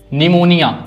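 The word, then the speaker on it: pneumonia: ठीक है? निमोनिया इसमें पी गायब है।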